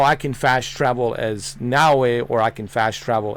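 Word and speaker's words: Naoe: Same thing with uh Nawi. I used to call her Naei, but it's not Naoi, it's Nawei.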